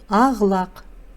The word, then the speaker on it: ақ-лақ: Пишется ақ-лақ, читается ағлақ.